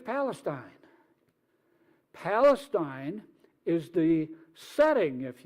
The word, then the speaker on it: Palestine: talk about Palestine now if you're from Ohio you would pronounce that Palestine but it's Palestine Palestine is the setting